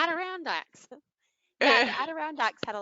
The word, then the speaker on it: Adirondacks: It's just like the chair, the Adirondacks, because I kept trying to call it the Adirondacks, and that's not how you say it. And my husband would look at me and go, like the chair, and I'm like, oh yeah, Adirondacks.